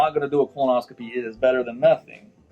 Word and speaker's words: colonoscopy: take when you do a how do you pronounce it? Colonoscopy. You put the P at the end. See, I would have jacked it all up. Colonoscopy.